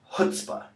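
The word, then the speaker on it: chutzpah: up on the GRE see that first C don't pronounce it it's this word is pronounced hutzpah it actually comes from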